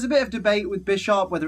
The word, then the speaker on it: Bisharp: it's pronounced bisharp or by sharp because 10 lily you could argue on my side of things that is based on the chess piece of bishop so it's Bisharp but other people would